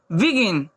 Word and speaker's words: begin: BEGIN, जी के बाद आई है लेकिन यहाँ जी की ध्वनि ग निकलेगी, तो इसे हम लोग क्या पढ़ेंगे, बिगिन।